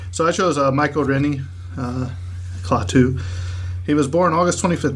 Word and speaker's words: Klaatu: Michael Rennie as Klaatu. Is that how you say it? Go ahead, Kyle. Correct. Klaatu. Klaatu. Yeah, with the full.